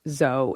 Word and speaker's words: zoology: You may have heard me call myself a zoolinguophile, pronouncing Z-O-O as zo, as in toe. Traditionally, that's how the first syllable of zoology has been pronounced.